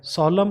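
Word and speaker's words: solemn: Autumn, और फिर है सॉलम, और फिर है ये डैम, तो कहीं भी ये एन जो है वो न साउंड नहीं दे रहा है, ये यहाँ पे साइलेंट है।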